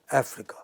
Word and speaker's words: Africa: But here, ordinarily speaking, this word Africa is marked with a stress on the initial syllable. So you have Africa.